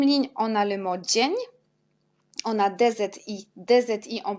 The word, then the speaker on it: dzień: Et c'est dzień. Alors on a DZI, c'est J. Et à la fin, on a N avec l'accent, c'est ni. Dzień.